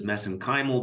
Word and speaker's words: mesenchymal: And of course, you study MSC stem cells, which I pronounce as mesenchymal because that's how they pronounce it in Ireland. I know there's other pronunciations for that.